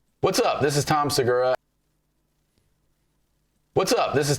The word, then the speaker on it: Tom Segura: I'm like, I think he's saying Tom Segura's name wrong. And then I'm like, well, maybe I'm saying it wrong. So I went and pulled a clip of comedian Tom Segura saying his name.